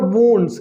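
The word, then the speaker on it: wounds: The farmer tendered to द वुंड्स, इसको हम पढ़ेंगे वुंड्स, अक्सर लोग वाउंड्स कहते हैं, बिल्कुल गलत है ना, इसका ये उच्चारण गलत है, इसको हम पढ़ेंगे वुंड्स, आप नोट कर सकते हैं।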